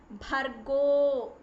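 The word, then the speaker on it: भर्गो: Again the sound should come from your navel. Bhargo. There is one more a sound which comes after go, that you have to attach one more a sound after bhargo. So that is bhargo. That sound should come. It is not bhargo, it is not bhargo. Bhargo. One more a sound is there after that.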